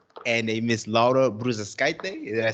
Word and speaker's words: Bružauskaitė: Donatas Mankevicius and a Miss Laura Bružauskaitė.